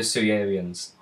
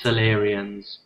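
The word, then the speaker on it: Salarian: what bug people the sewerians they made it I I thought it is your pronunciation yes well we come to expect that yeah even though it's solerians yep and the twoians they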